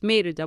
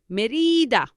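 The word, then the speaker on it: Mérida: right m e and you have an accent over the E because it's Merida without the accent it would be Merida but it is not Merida but Merida and you have an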